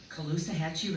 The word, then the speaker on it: Caloosahatchee: No longer accepting poisoned water, toxic air, increasing cancer rates, and the death of the Caloosahatchee River.